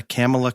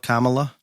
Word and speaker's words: Kamala: did you address the camela Kamala oh yes I talked about how Joe pronounced her name three different times in the introducing her as his VP Pig and that my personal favorite was camela so that is what